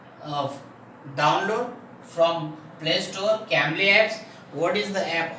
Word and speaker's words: Cambly: m b l y okay what is the pronunciation of that app gambling okay means you should of download from play store camli apps what is the app about this app